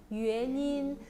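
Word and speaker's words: 原因: 그래서 원인, 발음 어떻게 해요? 유엔인.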